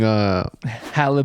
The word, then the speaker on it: Halle: It's not Haley for sure. No, it's Halle.